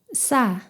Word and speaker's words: ㅆ: 시옷 두 개를 나란히 붙여서 쌍시옷이 되었습니다. 혀에 강한 긴장과 힘을 주고 강하게 마찰을 일으켜서 스 하는 딱딱하고 팽팽한 소리를 냅니다. 목구멍에 힘을 주어 성대가 긴장하는 느낌이 있습니다. 사, 싸, 사, 싸.